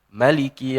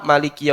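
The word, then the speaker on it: مالك: Rakaat pertama baca maiki yaumiddin panjang mimnya. Ayat kedua, mimnya dipendekin. Maliki yaumiddin. Enggak usah heran karena memang para ulama sebagian ada yang menggunakan teknik itu. Rakaat pertama Maliki yaumiddinnya panjang. Rakaat kedua Maliki yaumiddinnya pendek.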